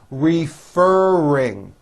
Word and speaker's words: referring: ask me a question referring three syllables refer ring what are you referring